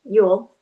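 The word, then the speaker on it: Jól: Yol J O L um which we pronounce Yule uh was a celebration observing winter solstice and the rebirth of the sun.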